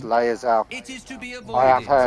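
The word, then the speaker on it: Lae'zel: excruciating or gestation, it will turn us into Lazar, mind flayers? or however you It's a pronounce process Lazar. known as ceramorphosis. Lazelle. I And think it's let me actually assure pronounced you, Laerzell.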